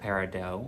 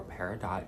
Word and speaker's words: peridot: a few things about her this is august peridot or peridot depending upon how you say it um and